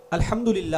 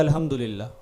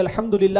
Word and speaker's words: الحمدللہ: الحمدللہ ہے نا، لفظ الحمدللہ، اگر ہا کو واضح نہیں کیا نا، ایسے ہی پڑھ دیا الحمدللہ، یعنی ہا کو صحیح تلفظ کے ساتھ ادا نہیں کیا، تو یہ الحمدللہ کا مطلب بن جائے گا دھیمی آگ اللہ کی.